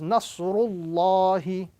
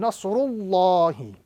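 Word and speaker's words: نصر الله: So the rule is, if there is a fatha or a dhamma appearing before, Allah's name would be pronounced with a round sound. So the correct pronunciation in this formation is Nasrullahi as opposed to Nasrullahi.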